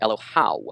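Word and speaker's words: אלוהיו: Now, his God is pronounced Elohau, A-W. Or AYW.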